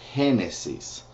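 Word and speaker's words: Génesis: Genesis and it's actually spelled exactly the same way in Spanish which is uh henes so it's hen Exodus is exodo Leviticus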